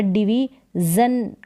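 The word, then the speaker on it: division: अब यहाँ पर डिवीजन करके पढ़ेंगे, जन करके साउंड आएगा, जन, डिवीजन। सन नहीं आएगा, SION, सन पढ़ दे, सन भी पढ़ते हैं लेकिन यहाँ पर जन करके, डिवीजन।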